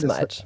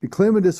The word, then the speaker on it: clematis: Clematis Won't or bloom as clematis- much. And clematis or clematis, depending on how you want to pronounce it, they're one of these